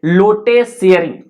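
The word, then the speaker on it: Lotay Tshering: लोटे शेयरिंग। लोटे शेयरिंग, टी जो है silent होता है, ठीक है।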